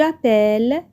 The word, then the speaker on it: appelle: Et on sait bien que le E suivi de deux consonnes se prononce et. J'appelle, tu appelles, il appelle, avec un E ouvert.